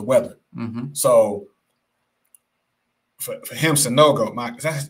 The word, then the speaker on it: Sanogo: So for him, Sanogo, Mike, is that how you pronounce it, Sanogo?